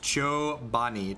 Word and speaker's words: Chobani: in upstate New York where Joe Benny is located it's pronounced Joe Bonnie Chobani a little get